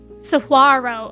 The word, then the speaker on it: saguaro: So it's pronounced saguaro.